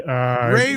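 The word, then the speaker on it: Rey: Ray rhymes with yay, scribe.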